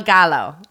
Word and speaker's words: Gallo: midnight mass laa Del Gallo oh goo G yeah L Double L in Spanish I know is not pronounced L okay um and then